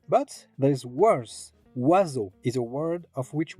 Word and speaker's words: oiseau: Oiseau is a word of which we do not pronounce any of the letters that compose it. O plus I becomes wa, E plus A plus U becomes O, the X is silent,